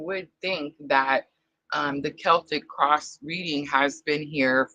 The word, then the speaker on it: Celtic: Look at me saying it right. Uh guys, I'll probably call it the Celtic cross for the rest of my life. Um I just happened to remember sister reminding me Celtic. Celtic. I actually looked up this